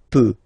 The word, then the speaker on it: peux: So the first form that we'll have is je, as usual, so je peux, okay? Final x not pronounced here, okay, so you get x but you don't pronounce it, so basically you get